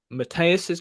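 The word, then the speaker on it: Matthäus: West Germany 4 Yugoslavia won and this is matthias's goal that's how you say you're gonna have to help me with some of these pronunciations is it Mateus yeah yeah it's his goal to make it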